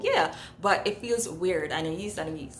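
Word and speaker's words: Anaïs: I feel so weird saying that, Anais. But you guys told me, okay? You guys told me that that's how it's pronounced. So yeah, but it feels weird. Anais.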